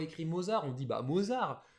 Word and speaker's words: Mozart: Bah oui, nous on dit Mozart parce qu'on le voit écrit Mozart, on dit bah Mozart. Mais non, c'est un prénom autrichien, donc allemand, qui se prononce bien à l'allemande Mozart.